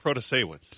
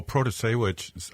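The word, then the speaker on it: Protasiewicz: Oh yeah, Janet Protasewicz.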